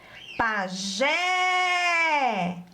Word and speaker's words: pajé: são acentuadas o pajé vamos chamar a palavrinha para descobrir a sílaba tônica pajé muito bem a sílaba tônica é o jé todas elas são oxítonas